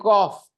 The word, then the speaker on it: cough: सब लोग बोल देते हैं कफ हो गया है, वो कॉफ बोलते हैं. सही प्रोनाउंसिएशन कॉफ है.